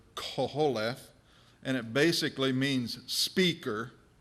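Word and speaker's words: קֹהֶלֶת: It's, if I can pronounce it right, it's the Hebrew word koholeth, and it basically means speaker or preacher.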